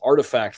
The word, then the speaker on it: RTFKT: bought the virtual speaker company rtfkt pronounced artifact for an undisclosed amount